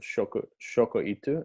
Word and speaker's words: shokuiku: And the concept of shokoitu, is that the right pronunciation? Yeah. Shokuiku.